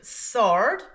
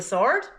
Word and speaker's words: sword: word in this group, sword. So this is a sword. Let's practice the pronunciation. Sword. Sword. Sword. So, what silent letter do these words have in common? These words both have a silent W.